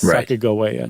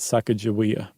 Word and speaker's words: Sacagawea: And not once do they spell that third syllable G with a J sound with a J. It's always a G. And they think that it was a hard G. So that it's Saka Goa, not Saka Jawia.